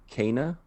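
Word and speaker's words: Kena: i mispronounce because i can't ever get this pronunciation right but i think it's cana bridge of spirits that's correct yeah i'm pretty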